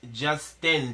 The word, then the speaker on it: Justine: It's Justin. The E is silent.